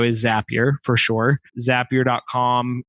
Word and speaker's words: Zapier: get there they're like is that really how you say it if you look down on the bottom it used to be on the bottom left-hand side it says zapier makes you happier they're actually telling you